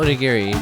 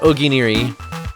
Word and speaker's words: onigiri: So onigiri, but Bonnie pronounces it oginiri.